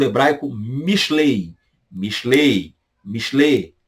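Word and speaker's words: משלי: Mishlei. Mishlei. Alguns até pronunciam. O I nem sai no final, né? Mishlei. A Mishlei.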